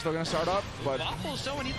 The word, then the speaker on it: WFFLS: I believe chat's informing us that's pronounced Waffles.